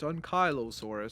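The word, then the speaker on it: Ankylosaurus: For the body, we have Ankilosaurus or Ankyossaurus. I know some people say that it's Unkyo, it's not I. So, it's Unkyosaurus.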